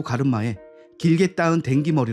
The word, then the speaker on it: 댕기: mc 저스틴 실버스타 가 댕기 발음을 어색하게 하자 정우연 은 정확하게 d 발음으로 하라며 다시 댕기를 확실히 말하고 따라 할 수 있겠습니다 정호연 말에 따라 정확하게 댕기 라고 말한 mc 는 이어서